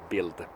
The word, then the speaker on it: Bild: It's spelled Bild, but pronounced Bild because it's German and they can't spit out the toned D in the end.